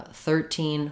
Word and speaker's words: thirteen: if i'm saying uh 13 14 15 i'm stressing more on the first syllable third to make a contrast between 13 and 14.